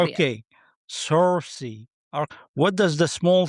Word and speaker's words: Searcy: us and you say Searcy, we know you are not from from Searcy, Arkansas. It is Searcy. Searcy. Searcy. You got to get that Southern accent going a little bit. Okay. Searcy.